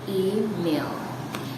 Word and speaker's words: email: And that is email instead of email.